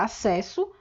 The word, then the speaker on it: acesso: representação gráfica da palavra acesso, nós temos dois S's. Mas o som que a gente pronuncia quando emite essa palavra, quando fala esta palavra, é, na verdade, o som de um único S. Belezinha?